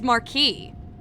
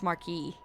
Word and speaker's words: Marquis: Well, the French way is Marquee. Oh, hi. Like Marquita de Lafayette. So, it's not even Marcus. It's Marquee.